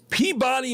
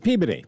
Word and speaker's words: Peabody: Peabody, Massachusetts. Peabody.